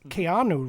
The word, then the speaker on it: Keanu: of him that his name is actually pronounced Keanu because he's Hawaiian. His name is Kayanu Reeves which means cool breeze.